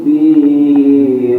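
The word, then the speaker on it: فِيهِ: Alladzi hum fihi mukhtalifun. Hi-nya pendek. Fihi muh.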